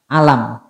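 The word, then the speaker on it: ألم: surat al-fiil itu juga Sama tulisannya alif lam mim Tapi bukan dibaca alif lam mim Tapi dibacanya apa alam karena dia bukan huruf muqato'ah akan tetapi di sini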